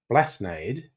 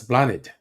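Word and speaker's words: Bláthnaid: Looks like Blathnade. That's Blanid.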